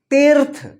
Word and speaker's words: तीर्थ: ती, देखिए यहाँ पे त में बड़ी ई की मात्रा, ती के बाद आधा र का उच्चारण, उसके बाद थ है, तो क्या होगा? तीर्थ।